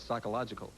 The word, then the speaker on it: psychological: The P will appear in all of the correct responses, and in each of those correct responses, the P is silent.